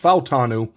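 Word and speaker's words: Fautanu: F falanu I found out his name is pronounced falanu uh from the University of Washington and I'm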